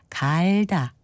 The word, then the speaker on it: 갈다: 그런데 주의할 것은 문지른다는 뜻과 바꾼다는 뜻을 가진 경우는 모음을 짧게 발음하는 반면에 농사와 관련된 뜻을 가진 경우에는 갈다 이렇게 모음을 길게 발음합니다.